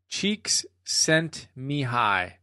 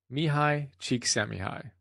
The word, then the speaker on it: Csikszentmihalyi: According to Martin Seligman, the author of Authentic Happiness, and you can see the notes on that, it's Mihaly is his first name, Csikszentmihalyi. Mihaly Csikszentmihalyi.